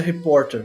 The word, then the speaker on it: reporter: Você vê que esse R do começo ele é articulado, independente do sotaque, tá?